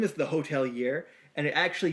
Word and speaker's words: Hotelier: year and it actually used to be the hotel year but apparently that made it too hard for them to like Google search so they actually changed it to hotelier so it's like h-o-t-e-l-i-e-r pronounced the same spelled differently and the album's called